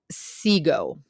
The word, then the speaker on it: sigo: kind of like desire the yo form is sigo it rhymes with diego siego diego diego sigo